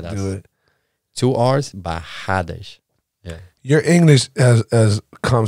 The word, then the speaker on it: Barradas: By the way, why do you guys have two R's, but then you fucking pronounce it with like it's a H? H. Barradas, but it's two R's.